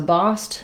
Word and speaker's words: bossed: So bossed and tossed rhyme with lost and cost. Same sound, same vowel. It's just a different spelling here. So when we make the past tense of to boss or to toss, because we have the s voiceless sound at the ends of these, then my letters ed just make the t sound.